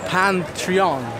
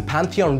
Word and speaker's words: Pantheon: So behind me is the Pantheon.